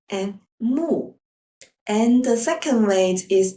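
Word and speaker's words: 木: for example the character for mouth and tree pronounced as Co and moo and the second way is to combine the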